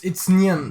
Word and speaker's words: Nguyen: I'm just gonna spell it out. NGYU. Oh, it's Nguyen. It's Nguyen.